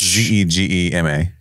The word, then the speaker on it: Zegama Beach: How do you think you pronounce that? Zegama Beach. It's Zegema.